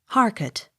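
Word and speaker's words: Harcourt: with the general public h a r c o u r t harket accent on first syllable h e a t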